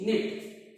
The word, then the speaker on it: knit: बुनने की English निट, KNIT। अब इसमें देखिए के साइलेंट है, अब क्योंकि आईएनजी फॉर्म लगानी है तो निटिंग हो जाएगा, बुन वही, KNITTING, निटिंग।